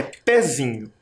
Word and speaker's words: pezinho: Parece que o pé é a sílaba mais forte, mas não é. Pezinho. Pezinho. Nós nos confundimos por causa do som do E, que tem um som mais forte. Mas perceba que na sílaba, a sílaba mais forte é o zi.